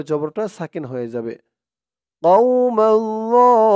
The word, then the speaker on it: الظالمين: قوم الظالمين। ওর উচ্চারণটা কিন্তু অনেক নরম পাতলা করতে হবে।